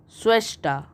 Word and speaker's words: Schwester: ste r is sister in german and it's pronunciation is Shrestha Schwester f r EU ND i n is female